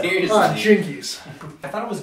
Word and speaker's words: Jinkies: Jinkies. I thought it was Ginkies.